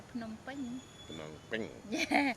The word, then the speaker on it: Phnom Penh: Did I say it right, or is Yeah, it Nam Penh? they call in Cambodia they call Phnom Penh.